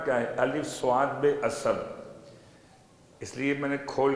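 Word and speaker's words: اصب: نہ ہوئی ہو تو الف کے بعد سے نہیں، سین نہیں، سواد ہے، اسب۔ اسب کا ترجمہ لبریز۔ لبریز کسے کہتے ہیں؟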